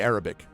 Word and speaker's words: Arabic: Yeah, it's always the emphasis on the emphasis on the first syllable, as they say.